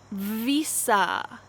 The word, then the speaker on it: Visa: category which is money visa visa make sure that your lips vibrate when you say this v visa master card master card